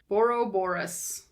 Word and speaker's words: Borborygmos: Borborygmos. There's just a few more syllables in there.